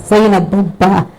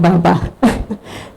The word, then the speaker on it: Zabba: My name is Zabba, not Baba.